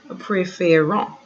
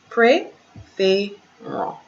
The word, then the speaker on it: préférons: The E with the accent in that direction, the E with the acute accent is pronounced as AY.